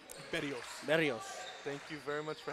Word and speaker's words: Berrios: Got our good friend from the monitor, Saul Berros. Did I say it right? Berrios.